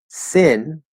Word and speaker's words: sin: noticed that because i can hear both but sin this word in english s-i-n is actually pronounced sin e not e not so